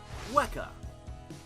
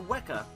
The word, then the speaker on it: weka: fur cakes number three weka it sounds like weaker if you pronounce it wrong but trust me this bird is far from weak the weka is another bird of